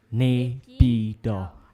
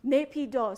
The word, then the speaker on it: Naypyidaw: And how do you pronounce that place again, your capital? Naypyidaw. Naypyidaw.